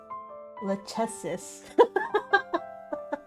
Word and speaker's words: Lachesis: Lachesis? I don't think it's cha. Lachesis. Yeah. I'll make it like a cuss sound.